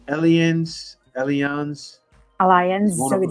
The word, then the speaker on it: Allianz: Actually, I have it's Allianz is Alliance one of with the Z Allianz.